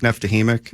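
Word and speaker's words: Neftekhimik: You're never going to pronounce that name. No. How do you say that one? Nizhnekamsk, Neftahimik.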